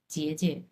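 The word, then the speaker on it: 姐姐: এটা হাফ থার্টন উচ্চারণ হবে, জেজে।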